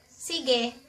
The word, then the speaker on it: sige: "Sige."